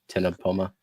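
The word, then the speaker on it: Ctenopoma: Leopard, Tenopoma. Which, yeah, the C is silent.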